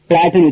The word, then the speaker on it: plait: உதாரணத்துக்கு PLAIT இந்த வார்த்தைய எப்படி உச்சரிக்கிறதுன்னா பிளாட்னு உச்சரிக்கணும். இங்க ஐ சைலண்ட், ஐய உச்சரிக்க கூடாது.